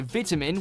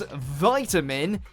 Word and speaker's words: vitamin: In the UK, you'll hear vitamin with a small I, but in the US, it becomes vitamin as though it's a capital I.